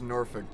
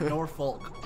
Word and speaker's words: Norfolk: talking about how like people from the north will pronounce it like Norfolk, Yeah. but he kept saying Yankees will pronounce it Norfolk, and I just thought